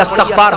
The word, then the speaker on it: استغفار: کہتے ہیں استغفار پڑھیے، استغفار صحیح تلفظ ہے استغفار، استغفار، اور جب پڑھیں گے تو الف کے زبر سے پڑھیں گے استغفر اللہ ربی من